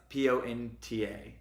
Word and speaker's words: Ponta: p Del is is but I thought it was Port uh it's p o n ta Ponta Pon so it's not Port